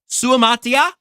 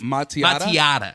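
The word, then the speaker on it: Suamataia: City Chiefs selected Kingsley Suamatia. Maybe it's another. I think there's another syllable at the end that I'm going to get before he's a Chief. Matiata. There it is. There's only one T.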